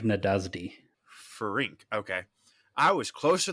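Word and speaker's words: Nádasdy: to count finr Nas nadasi I keep it's pronounced fank nadasdi Fink okay I was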